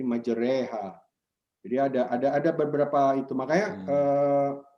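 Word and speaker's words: مجراها: Nah, nanti ada lagi di surat Hud itu memiringkan kasroh, majreha. Ya, itu bacanya menjadi jadi bukan majriha, jadi majreha.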